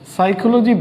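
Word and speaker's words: psychology: সাইকোলজি বানানটা একটু কঠিন বা একটু পিকুলিয়ার, কারণ মনোবিজ্ঞানের বানান সাইকোলজির প্রথমেই একটা পি আছে। হঠাৎ করে সাইকোলজি উচ্চারণ করতে তো পি আসার কথা না, কিন্তু পি চলে আসছে।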